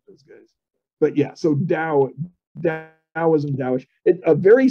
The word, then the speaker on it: Tao: Roman right so I I have to say it as Dao but I'm I'm allowed to spell it with a t because that's more easy